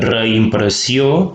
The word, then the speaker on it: reimpressió: Noteu que reimpressió, la E i la I se separen, es pronuncien per separat, però no ho indiquem